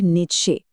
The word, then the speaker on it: Nietzsche: Frederick नीचे, और हां, सबसे पहली चुनौती तो यही है कि इस नाम को बोला कैसे जाए। सही उच्चारण है नीचा।